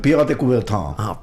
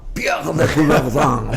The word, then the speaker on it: Pierre de Coubertin: Por la pronunciación francesa. A ver, decilo otra vez, decilo. ¿Cómo se llama? Pierre de Coubertin. Pierre de Coubertin. Muy bien.